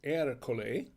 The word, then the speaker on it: Ercole: i think this erika it's pronounced er cole is a good one